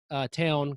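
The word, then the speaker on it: Pfafftown: But I grew up in a little tiny town called Town, which is actually spelled Pfaff, like Pfaff town. You look it up and you'll never believe how it's spelled.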